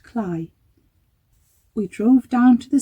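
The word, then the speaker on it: Cley: We continued on our way through the village, whose name looks like Clay, though apparently, according to a Villages by the Sea programme that we saw, is pronounced Cly.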